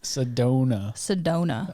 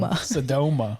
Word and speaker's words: Sedona: Sedona. I couldn't say it right the last time. Sedoma. You're thinking like Soma, like the cell.